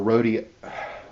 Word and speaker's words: Rhodia: We find a mention of rhodiola, and this was rhodiola or rhodia. How do you pronounce it? Rhodia, not rhodiola, but rhodia radix.